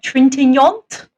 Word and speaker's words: Trintignant: Trintignant?